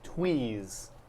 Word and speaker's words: twees: Forgive me if I mispronounce this, because we haven't seen many. These twees, have they always been here? You're pronouncing it perfectly.